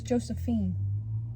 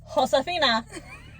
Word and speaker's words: Josefina: I thought it was Josephine. I think that you don't pronounce the J.